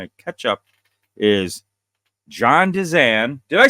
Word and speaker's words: Dezan: fun to kind of catch up is John danan Did I Say It Right Bingo perfect I